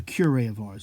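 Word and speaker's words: Curé of Ars: "My children, a cure of Ars, it's pronounced, sorry.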